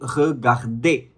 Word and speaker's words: regarder: Okay, so if you see any verb which ends with ER, you never pronounce it as er. Okay, it's not going to be regarder, it is going to be regarder. Okay, so ER at the end will always be pronounced as A, regarder.